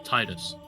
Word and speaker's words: Tidus: to the main character, who is Tidus or Tidus, depending on whether you pronounce it correctly or not, who is this blonde-looking chap here.